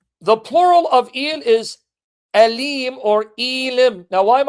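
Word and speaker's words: אֵלִים: The plural of El is Elim or Elim. Now, why am I pronouncing it? So you don't think I'm saying the letter L.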